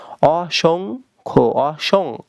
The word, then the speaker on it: অসংখ্য: অসংখ্য কি হবে, অসংখ্য। সং উচ্চারণ করতে হবে, অসং, তারপরে খ।